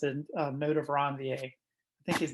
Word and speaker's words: Ranvier: It helps me spell it easier, but technically, if you want to pronounce it, node of Ranvier.